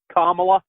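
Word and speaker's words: Kamala: tells you got to pronounce her name comma WA that's how she said yes sir okay but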